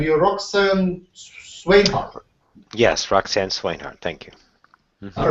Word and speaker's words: Roxanne Swainhart: Yes, Roxanne Swainhart.